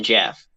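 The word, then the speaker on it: Gef: uh so anyway strange phenomena issue number two jeff and i'm spelling that g-e-f jeff no it's pronounced to jeff and they said g-e-f get the f yes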